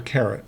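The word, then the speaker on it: caret: so there's a hat that little hat is called a carrot it's it's spelled exactly like the carrot in a diamond ring c a r e t and it's an uppercase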